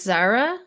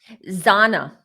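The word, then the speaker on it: Xana: And the other thing I was getting with Ethan and his girlfriend, did you say her name is Zara? Zana.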